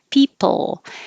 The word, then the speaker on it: people: the final l is don't round your lips because if you round your lips people it will sound like po and it's not so people keep your lips straight or if you need